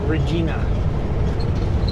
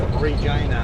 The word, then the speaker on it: Regina: Regina what the garment said as Canadians pronounce Regina.